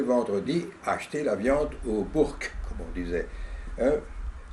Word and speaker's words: bourg: Oui, et j'allais tous les vendredis acheter la viande au bourg, comme on disait. Hein, c'est la prononciation locale de bourg.